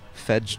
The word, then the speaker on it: pedge: Some would say fedge dash. Well, that's how you'd spell it, but that P is silent.